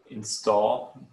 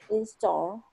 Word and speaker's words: install: install or setup yes install you want to emphasize the last syllable install install so when you